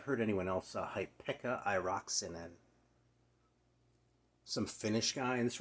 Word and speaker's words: Airaksinen: Pekka Airaksinen. Or Airaksinen, probably. I think this accent's usually on the first syllable in Finnish.